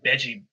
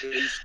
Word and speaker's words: Beige: Beggy. Nope. BG. 1 syllable. Okay. 1 syllable. Do you not know what a syllable is? I am so sorry, everyone. His name is Beige.